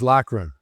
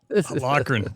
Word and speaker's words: Loughren: Loughren, is that the right way? It's pronounced Loughren. I'm Irish. Loughren, got it.